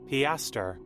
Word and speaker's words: piaster: you say it uh let me see piaster piaster thank you dictionary piaster there we go um piaster uh you